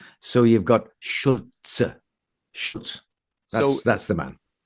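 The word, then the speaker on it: Šulc: And in in the uh Czech language, the C like many Slavic languages is pronounced as a Ts. So, you've got Schulz.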